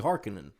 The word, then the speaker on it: Harkonnen: It's Harkonnen, Right. but it's not. It's actually Harkonnen.